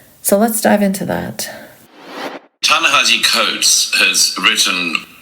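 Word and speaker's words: Ta-Nehisi Coates: has written tanahi coats can't even bother to pronounce his name properly I've never heard it said with a zed or z sound like we know he can make an S sound so why why not make that effort we should start pronouncing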